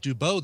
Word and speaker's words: Dubeau: Every time you hear JF Dubow, you know it's spelled JFDUBEAU.